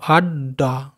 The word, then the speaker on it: আড্ডা: তাহলে আমরা কি বলেছি, যেগুলি ডবল থাকবে সেগুলো আমরা উচ্চারণের ক্ষেত্রেও কিন্তু ডবলই উচ্চারণ করব। এই যে লেখা আছে আ ডয়ে ডয়ে আকার, তাহলে কী হবে? আড্ডা। বুঝতে পেরেছো? প্রথমে একটা ড উচ্চারণ করলে আড, ডয়াকার ডা, আড্ডা।